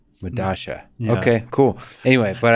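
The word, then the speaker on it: Medellín: this Madala, I uh, believe it's pronounced Medasha. It's a South American subway station. I forget where. but spelled with two L's. Yeah, because that's how Spanish works, right? Like the two L's have.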